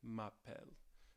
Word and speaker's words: m'appelle: at this you see there are two "L"s in this conjugation which is what gives you that elle sound at the end Je m'appelle Also, you see this